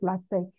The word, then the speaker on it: LaTeX: The X is not pronounced, we mention it with a K rather.